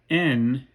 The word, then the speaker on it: envious: Arise, fair sun, and kill the envious moon. Right? By eliding these 2 syllables in the latter part of the word envious, we can make envious into a 2-syllable word.